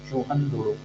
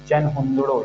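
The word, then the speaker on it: चन्हुदड़ो: इसके बाद फ्रेंड्स चलते हैं चूहन धुड़ो, ये आता है 3rd नंबर है। सॉरी चन हुंदड़ो इसको बोलेंगे, ठीक है, चन हुंदड़ो प्रोनाउंसिएशन इसका करेंगे।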